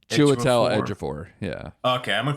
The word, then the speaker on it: Chiwetel Ejiofor: And how do you pronounce his name? Chiwetel Ejiofor.